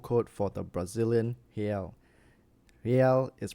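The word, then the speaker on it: real: is the iso code for the Brazilian Hal Hal is pronounced Hal The One Hal node reportedly can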